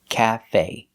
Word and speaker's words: cafe: We stress both syllables. It's not cafe and it's not cafe. It's cafe. Stress both syllables equally. Cafe. The short a like black cat. Calf. The E is pronounced with the long A like say and pay.